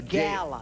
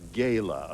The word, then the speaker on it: gala: A gala. A gayla. A gayla. The word is pronounced gayla.